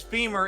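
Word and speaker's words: Fimir: Spud says femur is the only correct name for it. I agree. I agree. We had a long discussion on one of the games about what actually is the proper pronunciation of F-I-M-I-R, but we have always said femur for decades and decades, so I don't plan on stopping that now.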